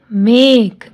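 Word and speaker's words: make: ए क, मेक, ई साइलेंट।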